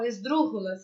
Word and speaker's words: esdrúxulas: Do nosso espanhol, esdrúxulas, é assim que faz a pronúncia.